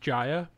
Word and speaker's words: Jaya: guy as a blessing oh it's pronounced jaya it's certainly not what